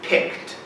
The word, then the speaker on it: picked: CK and the D although the D really honestly is said more like a t pick we have to